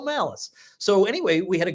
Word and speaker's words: Malice: sure I got like, this is not like an Italian last name. It's not like pronounced Molice or something, right? He said, no, it's Michael Malice.